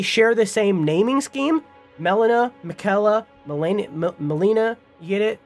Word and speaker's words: Melina: uh last off uh Melina that's how you say it not Molina it's Melina uh Melina